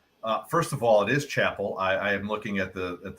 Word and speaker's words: Chappell: First of all, it is Chappell. I am looking at the PGA Tour's media guide. They actually have a pronunciation right there next to his name as Chap Pole with the emphasis on Chap.